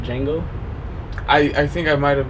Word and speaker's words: Django: He's like, "Django." He's like, "How do you spell it?" He goes, DJANGO. He goes, "The D is silent."